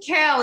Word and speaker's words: Cale: You pronounce it kale. It's an allusion to the vegetable that once stood for wellness.